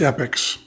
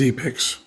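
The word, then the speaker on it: Epix: was on e picks which they pronounced epics but I believe is e picks which is where we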